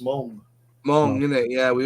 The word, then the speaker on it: Meng: But it's like Meng. You know Meng, the Chinese company, that's properly pronounced Mong.